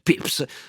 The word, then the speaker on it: Pepys: si chiama Samuel Pepys, scritto Pepys, io ho scoperto adesso che si pronuncia Pepys, ma comunque Samuel Pepys,